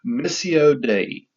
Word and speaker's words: Missio Dei: I probably don't pronounce Latin properly, but it's Missio Dei. That is spelled Missiodei, Missio Dei.